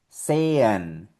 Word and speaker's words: sehen: Cuando tú veas estas tres letras seguidas, E, H, E, esto va a sonar como una E doble.